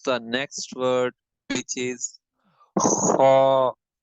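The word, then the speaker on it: خ: Moving towards the next word, which is kha. Kha has to be pronounced from the top of the throat. This will has to be read pur. This is a full mouth word.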